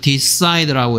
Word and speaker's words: decide: 여기에 I의 발음이 동사일 때는 decide라고 해서 I가 I 발음 나고 있는데요.